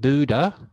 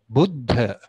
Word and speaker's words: Buddha: a lot particularly americans i hear americans refer to buddhism or the buddha using a long u but if you look at the bottom line there that's the correct spelling it's not buddha and it's not buddhism it's buddha or buddhism a short you okay so if you